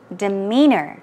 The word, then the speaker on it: demeanor: for you is demeanor demeanor okay the stress as you say goes on the second syllable and it means what